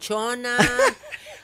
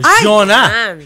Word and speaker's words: Chona: ah Excuse me ah hindi Aling tona Madam Jona Jona hindi pala tona hindi magagalit ako pero spelled as ch ang pronunciation lang ay kaartihan lang sorry po ma'am nagkamali